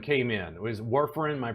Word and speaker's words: warfarin: So warfarin came in. Was warfarin, am I pronouncing that correctly?